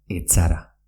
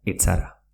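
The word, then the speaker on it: ez zara: Es Sara, que quiere decir no eres, se pronuncia echara. Repito, es Sara, que quiere decir no eres, se pronuncia echara.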